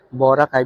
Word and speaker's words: Boracay: pumunta kami ng Boracay Okay so Boracay because the accent falls in the second syllable Oh So um We're